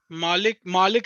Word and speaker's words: Malik: mm, Malik is the correct pronunciation.